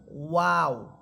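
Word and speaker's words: واو: যে সাউন্ড বা শব্দটা বের হবে সেটা হচ্ছে ওয়াও। প্রথমে দুই ঠোট গোল করবেন। এরপর দুই ঠোট ছড়িয়ে দিয়ে আবার সংকুচিত করে নিয়ে আসবেন। তখনই আপনি ওয়াও হরফটা সুন্দরভাবে উচ্চারণ করতে পারবেন। ওয়াও ওয়াও আর বা হরফ এটা দুই ঠোটের ভিজা অংশ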